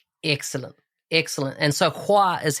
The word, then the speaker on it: Khoa: choi n h n excellent excellent and so hua is how to pronounce your first name yes that's correctly okay